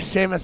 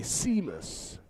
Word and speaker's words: Seamus: I mean, if you're pronouncing it literally, it'd be Seamus. But because it's an Irish name, you have that S-E-A, Seamus.